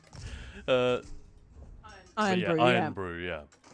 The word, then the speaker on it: Irn-Bru: That's not how you say it. I don't think. Well, maybe Lena Elvira will correct us here. Or if Guns N' Raiders is about. It's Iron Brew, right? It's supposed to be.